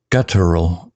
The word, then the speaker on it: guttural: Guttural sounds like gutal. Stress on gut.